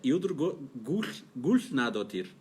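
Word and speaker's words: Hildur Guðnadóttir: Agora vou tirar onda, porque essa letrinha que tem parece um D cortado assim em cima, se pronuncia... Nossa. Quando eu estive na Islândia, eu aprendi. É Hildur Gulfnadottir.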